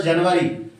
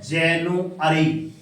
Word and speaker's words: January: देखना यहाँ पे लगा है सर जनवरी, JANUARY, मगर हम इसका उच्चारण क्या करते हैं, जैनुअरी।